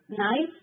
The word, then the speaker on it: knife: Knife K silent.